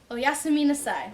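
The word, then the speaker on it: おやすみなさい: So if we're breaking this one up, it would be o-ya-su. So it's kind of doesn't matter breaking up syllables. You could try to think of words that sound similar, but I always think it's easier to just break it up syllable by syllable. So it's o-ya-su-mi nasai. So as a whole, oyasumi nasai, which is good night.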